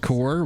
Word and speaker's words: corps: divisions of the military it's pronounced the french way oh cool it was